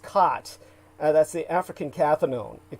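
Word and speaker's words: qat: That's cat, as it's spelled cat. Q-A-T, but it's really pronounced cot.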